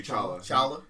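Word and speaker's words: T'Challa: comic book fact um the te and his name is silent tchala oh is it it's actually chalaa he actually comments like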